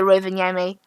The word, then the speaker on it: Rovaniemi: in Finnish, it's also Rovaniemi. Well, if the Finnish pronounce it like that, Rovaniemi. Rovaniemi. that's how you pronounce it in Finnish.